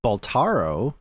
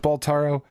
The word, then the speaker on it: Balatro: I thought it was Balatro because it's B-A-L-A. Maybe I'm saying it wrong. It's Balatro, and it's a Latin word.